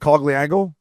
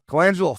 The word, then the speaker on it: Colangelo: They got Kreider with Zegras and Cogliango. Wherever Sam, is that how you say his name? Colangelo? Thank you. Colangelo.